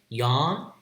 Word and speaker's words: yawn: Yawn. Again, it's a vowel that is rhyming with law, so it should be open O, but in some dialectal variation, it will be low low back vowel ah.